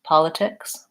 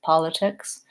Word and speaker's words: politics: will be a flap in the case of politics I think ticks it it is at the beginning of the syllable so even though the syllable ticks isn't stressed politics politics the stress is here and I have short and short and it's the start of that syllable so it's kind of